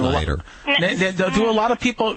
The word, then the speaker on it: Nagelschneider: Well, if anyone can pronounce my name, I always say it's easier than Jingleheimer Schmidt. So, Nagelschneider.